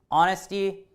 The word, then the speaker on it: honesty: and on ist so the h is silent it just kind of starts with the o sound onnist is the adjective